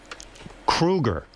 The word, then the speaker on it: Kruger: And Chad, you know, your last name is Kruger. Thank you. I don't know if you pronouncing know that. it wrong. That's how you say it.